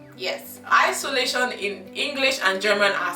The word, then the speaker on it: Isolation: are spelled the same, but in German you pronounce it, guess, Isolation, because S in English is pronounced Z in German, and Tion is not schon, it is Tion. So it's pronounced Isolation, meaning is the same.